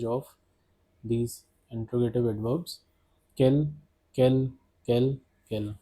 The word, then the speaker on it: quel: Quel, quelle, quel, quelle. The pronunciation of all these interrogative adverbs is same, that is quel.